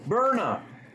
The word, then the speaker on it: Byrna: and regulators before purchasing, transporting, or using the Brian Launcher. And warning, this is not a toy. You're right. All right, let's see if I can get this a little better. Pronounced burnup.